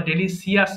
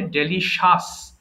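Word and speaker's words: delicious: ancient পুরাতন modern আধুনিক এরপরে ডেলিশিয়াস সুস্বাদু এই উচ্চারণটা অনেকে ভুল করে ভুল করে ফেলি আমরা বলি কি ডেলিশিয়াস বলি অথবা ডেলিসিয়াস বলি ভুল হয় অনেক সময় এটা হবে ডেলিশিয়াস ডেলিসা ওকে ডেলিশিয়াস সুস্বাদু টেস্টলেস বিষাদ ন্যারো সংকীর্ণ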